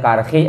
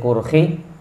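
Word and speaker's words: Karkhi: alkarhi ada yang bacanya karhi ada yang bacanya kurhi silakan aja ya annahu qala bahwasanya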